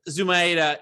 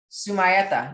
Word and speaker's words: Zumaeta: up your name so tell me how to say the last name go sumaita you did a good job hey okay that almost sounds italian but it's spanish right it is it's it's originally from argentina oh that's so cool